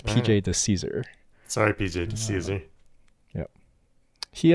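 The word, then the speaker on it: Di Cesare: speedrunner named PJ uh this individual's last name is spelled D I uh space c-e-s-a-r-e which I um okay in my great ignorance pronounced as Cesar which is not correct okay it's actually the Caesar so my great apologies I will correct this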